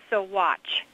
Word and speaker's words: Saguache: once and for all we pronounce it so watch usually they'll like if